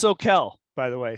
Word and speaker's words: Soquel: It's pronounced Soquel, by the way. Soquel Sorry.